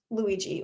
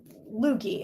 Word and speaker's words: Luigi: And and Luigi or Lugie as my sister and I used to call him when we played Mario Brothers because we were very young and couldn't spell correctly or couldn't pronounce things correctly.